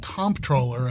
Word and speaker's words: comptroller: And I noticed that you go out of your way to use the Maryland favored pronunciation of comproller and emphasizing the first syllable and the MP where I think much